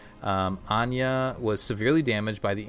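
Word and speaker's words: Áine: hair matching her namesake from celtic mythology so anya okay this is how you would print definitely pronounce that that's from halo initiation issue 2.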